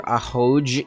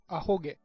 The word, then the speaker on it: ahoge: Is that how you pronounce that? Oh boy, here we go again. How to pronounce... Oh, fucking... I gotta unmute the browser again. Ahoge. Is it ahoge? Ahoge. Ahoge. Damn it. I've been saying it wrong all these past, week.